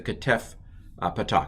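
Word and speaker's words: חֲטַף פַּתַח: the side that's the ketef patak it's a shortened a so again i'm going to massacre it but if this was ah and this was ah then this would be ah so again how long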